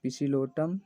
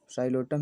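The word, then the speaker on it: Psilotum: तो इसमें से पी से हो जाएगा पिसिलोटम, यानी कि इसको पी साइलेंट रहता है यहाँ पे, तो साइलोटम ही बोला जाता है, लेकिन याद रखने के लिए दोस्तों आप पिसिलोटम बोलिएगा।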